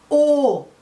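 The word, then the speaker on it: aux: o exatamente a peso uma pronúncia que aquele ou lá do começo mas tem esse X no final que indica o plural como vocês sabem o a maioria de vocês já sabe é geralmente a gente não pronuncia as consoantes finais em francês então a gente não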